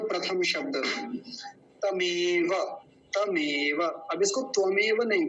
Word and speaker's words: तमेव: हमारा शब्द क्या है तमेव तो ध्यान रखेंगे त्वमेव नहीं बोलेंगे तमेव ऐसा बोलना है विवा विवा वि